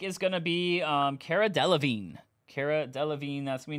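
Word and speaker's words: Cara Delevingne: going to be um car deline Cara deine that's going to be numbered one of four Cara deine that's how you say it one of four on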